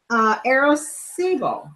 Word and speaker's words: Arecibo: My shirt is from Arecibo.